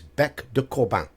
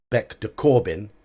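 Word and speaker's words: bec de corbin: you are wrong here this is French this is BEC de Corban not Beck de Corbin it's BEC de Corban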